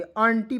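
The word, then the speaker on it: aunty: यू एन टी वाई तो नटी नहीं पढ़ेंगे अंटी पढ़ा जाता है दोस्तों क्या पढ़ा जाता है यू को इसमें साइलेंट करते हैं ठीक है ये आपको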